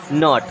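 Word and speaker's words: knot: जाएगा खोलना जैसे गांठ खोलना अन टाई द नॉट अब के यहां पर साइलेंट होता है मेनली केसेस में जब इन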